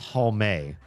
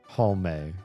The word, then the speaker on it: Halme: Because it's Halme. Like Marissa Tomei. Halme. You pronounce the E. Everybody wants to drop the E, and I don't.